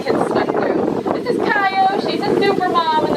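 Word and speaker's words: Cayo: It's Kayo, C-A-Y-O.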